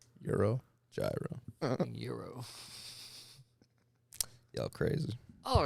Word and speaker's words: gyro: the last you say euro or gyro it's pronounced euro when you're in new york though what do you say euro gyro euro y'all crazy all